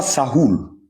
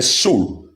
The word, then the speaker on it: Saul: Donc ici là le nom qui est prononcé ce n'est pas ce n'est pas Sahou, c'est Saul qui est aussi une tradition de Saül.